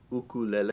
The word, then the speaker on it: ukulele: Second question that comes up a lot is, why do I pronounce it ukulele? And I imagine if I was in a place like Nashville, I might pronounce it differently, just like if I were, different places, they have different accents, and And but it's actually a Hawaiian word.